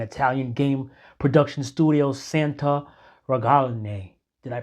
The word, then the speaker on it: Ragione: Horses is a 2025 video game developed and published by an Italian game production studio Santa Ragione. Did I pronounce that right? Ragione.